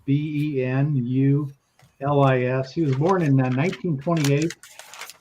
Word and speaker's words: Bill Benulis: And the interesting thing is that the cover is by some guy by the name of Bill Benulis, if I'm pronouncing it correctly. It's Benulis.